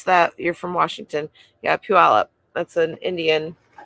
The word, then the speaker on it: Puyallup: working on listing in Bonney Lake up near Puyallup well you're not that far you're only like